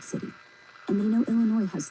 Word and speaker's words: Illinois: Illinois isn't L-A-N-Y. It's Illinois. The I is long. The second syllable is in, not an The French thought they were clever.